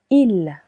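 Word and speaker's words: ils: Il with an S that is silent.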